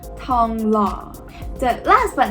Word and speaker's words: Thong Lo: Very much in the middle of the Sukhumvit corridor and served by the Thong Lo BTS station, pronounced Thong Lo.